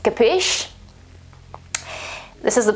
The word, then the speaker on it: capisce: quite quite funny and the final e is not pronounced capisce this is the pronunciation